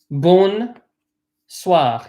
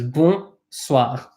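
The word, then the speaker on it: bonsoir: so in bull suave be careful not to pronounce the N in bull right so you'll notice some said Boone suave he pronounced this n we do not pronounce the end it was boom suave mm-hmm the end is not pronounced daddy's a head young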